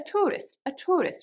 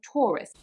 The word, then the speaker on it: tourist: However, because RP is supposed to be absolutely correct, they will pronounce it as ua, so pure. A tourist, instead of tourist.